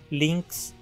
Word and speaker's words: Lynx: A vogal Y é pronunciada da mesma forma que a vogal I. Lynx, Ciania, Ila, Crisophyllum, Xilocopa, Sinfitum.